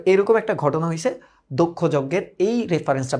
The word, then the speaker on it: দক্ষ: এটার উচ্চারণ কিন্তু এইরকম, এই যে দক্ষ, দক্ষ, হ্যাঁ দক্ষ।